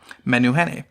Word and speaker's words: Menehune: men who had a Menehune is spelled its menu and then H E and E men new honey so Google that and